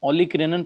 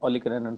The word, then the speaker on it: olecranon: ये अल्ना का ना ओलिक-रेनन प्रोसेस है, वो लिख देता हूं, ओलिक-रेनन प्रोसेस ऑफ अल्ना, ओजान लिखा हुआ है, ओलिक-रेनन, OLECRANON, ओलिक-रेनन प्रोसेस ऑफ अल्ना।